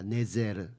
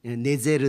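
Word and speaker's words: נצר: 이런 예언이 이사야서 11장 1절에서 그래서 그 가지라는 단어가 히브리 말로 네제르입니다. 네제르. 이게 나자렛하고 발음이 똑같아요. 그래서 아마도이 구절을 염두해 두고 다윗이 딱 그 윗의 집안에 대한 구절이니까이 구절을 염두해 두고 나사렛 사람이라 나지리 네제르 사람이라 이렇게 일컬음 받게 될 것이다.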